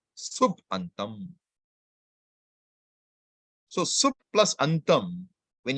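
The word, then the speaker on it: सुबन्तम्: You don't pronounce the two independently. You combine them and you get a new way. So sup antam becomes what?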